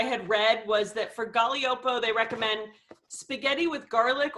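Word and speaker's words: Gaglioppo: but i liked it i included the phonetic spelling on the text sheet so it's galiopo um but i i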